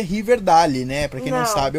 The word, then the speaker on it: Riverdale: o river meio porque na verdade violência e pronuncia riverdale né pra quem não sabe eu falo de